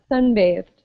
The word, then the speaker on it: sunbathed: us sunbathe and here are we pronouncing this with a d or a t t good sun based sunbathed okay it's a tea what about seafood good